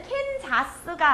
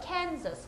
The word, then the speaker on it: Kansas: 그리고 얘는 캔자스가 아니고요. Kansas. 그러니까 아랑 어 사이의 소리예요. 다시 한번 잘 해볼게요. Kansas.